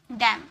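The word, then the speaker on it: damn: लेकिन एम और एन अगर एक साथ रहते हैं ना तो एन को साइलेंट कर दिया जाता है। यानी कि चुप करवा दिया जाता है। Column डैम column M एन एक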